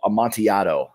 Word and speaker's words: Amontillado: move on to the Cask of Amontillado I said that correctly yes okay don't don't pronounce those ELLs my Giotto yeah this